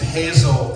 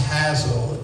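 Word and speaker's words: Hasil: by, like Hazel Atkins, which some people think is Hazel Atkins, but it's really pronounced Hazel, in Boone County, West Virginia. That's the right pronunciation.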